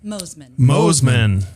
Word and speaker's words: Mossman: to speak, is Mossman. Is that right? Did I pronounce that correctly? Very close. Mosman.